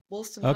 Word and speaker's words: Wolstenholme: So, and I'll probably pronounce his name wrong. Wolstenholme. I thought the same. Yes, Wolstenholme.